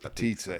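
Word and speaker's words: potica: It's spelled pica but they pronounce it patita and it's wonderful.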